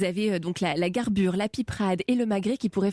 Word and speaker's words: piperade: Et la piperade, donc on en avait déjà un petit peu parlé avec le Pays Basque. On prononce comment on dit, la piperade.